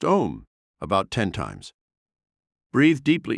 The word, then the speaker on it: Om: gently humming the sacred Mantra Al pronounced om about 10 times breathe